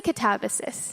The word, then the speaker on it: Katabasis: I say Katabasis.